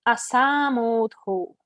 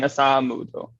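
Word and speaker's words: असम्मूढो: Oh, To really see the asamudho. difference? Go ahead again. And you were saying asamudho. Okay. Just putting a little extra emphasis on the second A with it.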